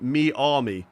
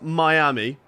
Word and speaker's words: Miami: Um, always pronounce Miami me army. No, no, no. We're just not going to do that. We're not going to do that. Ty. Okay. It's Miami.